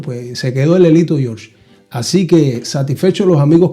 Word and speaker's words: George: Y entonces tuve que ponerle la G y pronunciar el Jorge en inglés, George.